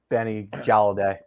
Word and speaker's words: Galladay: Yeah, not calling out any names, Mr. Benny Galladay. Rhymes with Benny Holiday.